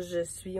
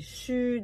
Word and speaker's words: chu: Donc, c'est pas je suis, on dit chu.